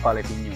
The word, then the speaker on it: Palevinho: Jadi bacanya Palevinho.